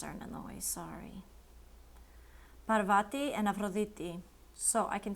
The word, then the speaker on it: Parvati: And I know that Parvati is pronounced Parvati because I'm a yoga teacher and I know a little bit of pronunciation with that.